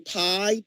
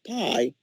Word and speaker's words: Pai: And so it's my understanding that under Trump, the FCC director, I think you pronounce his name Pai, P-A-I, he has loosened mostly all of the restrictions for the FCC.